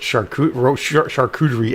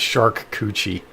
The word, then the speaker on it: charcuterie: This one person pronounced charcuterie as shark coochie.